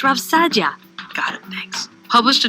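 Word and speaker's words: Saadia: Rav Sayadia, for example, it's pronounced Rav Sadia, got it, thanks, published a chapter called How a Person Ought to Behave in the World.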